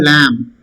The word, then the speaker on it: lamb: The small sheep is called lamb. Okay, lamb. B is silent.